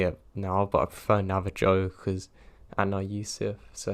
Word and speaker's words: Navajo: And yes, I am fully aware that it's pronounced Navajo, not Navajo.